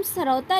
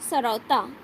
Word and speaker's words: सरौता: लेकिन जब हम सरौता लिखेंगे, सरौता, सा पूरा ये वाला आएगा कि हम सा पूरा प्रोनाउंस करें, शाह नहीं आएगा। शाह में दांत तालु को टच नहीं करता है, और सा तालु को और प्लस दांत को ये वाला शाह टच करता है आपका।